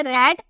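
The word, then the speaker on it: read: रीड का second form हो जाता है रेड और थर्ड फॉर्म हो जाता है रेड। यानी कि इसका सेकेंड देखने में सेम होता है बट इसकी प्रोनाउंसिएशन अलग की जाती है।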